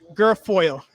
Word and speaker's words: Guilfoyle: don jr's girlfriend kimberly how you pronounce your name guilfoyle i sound terrible but i never actually have pronounced her name how you passed her name gorfor girlfriend girlfriend girlfoil oh okay girl foil that's live internet for